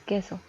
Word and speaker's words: queso: es la sílaba tónica la primera palabra es queso podemos ver que qué consiste de dos y de dos sílabas y la primera es la que resulta con una entonación más fuerte la tercera es cartelera